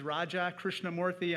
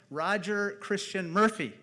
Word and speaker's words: Raja Krishnamoorthi: When I first ran for office, I said, my name is Raja Krishnamurthy, and the person in Chicago looked right back at me and said, Roger Christian Murphy.